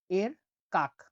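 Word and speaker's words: erkak: ই এর উচ্চারণ হয়ে থাকে এ এর মতো, উদাহরণ হচ্ছে দেখুন, এর কাক।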